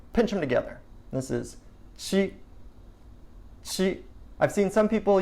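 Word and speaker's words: 七: for doing that so three fingers she she she she is seven she level tone next one it's just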